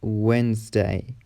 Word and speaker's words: Wednesday: The letter D is also silent in some common words like Wednesday, handsome, sandwich, grandma, grandpa.